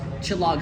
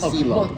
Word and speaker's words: Silog: Most Chilog spots, and I know I'm going to say it wrong a couple of times because I'm trying to break a bad habit here. Silog spots. Silog.